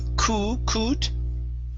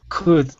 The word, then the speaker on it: could: word could right here instead of ku okay open your mouth up when you're pronouncing that vowel okay so instead of saying it's good could there you go very